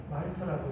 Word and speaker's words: 몰타: 저기 보이는 이게 성경에는 멜리데라고 표현이 되어 있지만 지금 요즘에는 몰타, 영어로 표현은 몰타라고 하는데 읽기는 말타라고 읽어요.